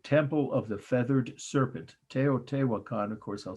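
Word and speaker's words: Teotihuacan: it's very self-descriptive temple of the feathered serpent te o te wakan of course i'll spell for you slowly t e o t i h u a c a n tao te wakan mexico 350 a.d or ce okay so now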